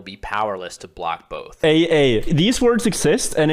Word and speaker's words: AA: AA. These words exist, and it's the way you would say the letter A.